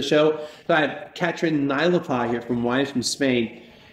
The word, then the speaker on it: Naelapaa: I said it right. Anyway, it's not that hard of a name once you know it, right? That's right. Go by how it's spelled.